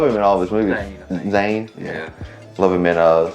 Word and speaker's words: Zahn: the teacher got about that huh Steve Zahn Zane how you pronounce his name I love him in all his movies Zane yeah love him in a Saving Silverman it's